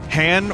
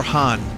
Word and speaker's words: Han: it was always Han, but I knew someone that pronounced it Han because that's how Lando said it.